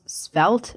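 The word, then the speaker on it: Svelte: So like you might have heard of Ember, Backbone, Spelt, I think that's how you say it, right?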